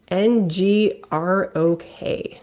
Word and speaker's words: Ngrok: It's spelled NGROK. Oh yeah, and Grok. Ngrok.